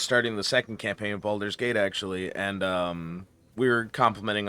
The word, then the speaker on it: Baldur's Gate: Speaking of mispronouncing shit, I was talking to someone the other day that kept calling Baldur's Gate Boulder Gate.